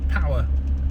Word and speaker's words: Poer: The new GWM Power 300. Yeah, it's spelled power, but it's actually pronounced power.